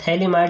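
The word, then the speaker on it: phthalimide: sodium disodium थलीमा प थैली माइड इसको यानी पीएच जो साइलेंट होता है यहां पर ठीक है तो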